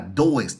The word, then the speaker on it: does: La segunda que dice does, no es así que se pronuncia. Y hay muchas gentes que lo pronuncian de esa manera. Does. No, es does.